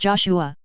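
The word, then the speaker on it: JOSH-A: Joa, pronounced Joshua, is the Earth Alliance headquarters and the final destination of the Archangel.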